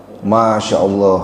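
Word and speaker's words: ما شاء الله: Masyaallah. Nah, itu masyaallah. Bukan pakai sin, tapi pakai syin.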